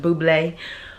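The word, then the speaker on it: bubly: and i love bubbly or maybe i pronounce it bubbly but it's really spelt like b-u-b-ly like buble somebody told me it was pronounced buble that's like a little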